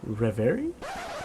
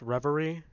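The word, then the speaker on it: reverie: It just makes me shut off in a rever. It's pronounced revery.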